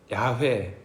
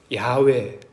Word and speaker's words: 야훼: 히브리어 원 발음으로 하게 되면 야훼, 야훼, 누군가는 야훼 이렇게 이야기를 합니다.